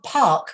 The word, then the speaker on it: park: them and it's normally you're shortening the vowel too much you need to lengthen the vowel so you wouldn't say i'm going to pack my car i'm going to my so you say i'm going to park my car yeah okay i'm going